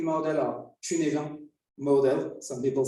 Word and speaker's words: Cynefin: It's the Cynefin model or Cynefin model, some people say. I think that's the correct pronunciation.